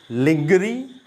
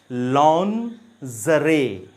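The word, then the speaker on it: lingerie: लिंगरी, लिंगरी। Again it इज़ a wrong pronunciation, ये गलत pronunciation है। पहले मैं बता दूं कि ये होता क्या है। ये फीमेल अंडरगारमेंट्स या नाइट वेयर को कहा जाता है, और इस वर्ड की सही प्रोनाउंसिएशन है लॉन्जरे, लॉन्जरे। कंबाइन करने पे ये वर्ड बनता है लॉन्जरे, लॉन्जरे। इसका मतलब महिलाओं के नाइट वेयर या अंडरगारमेंट्स को कहा जाता है। सो इट इज़ लॉन्जरे, नॉट लिंगरी।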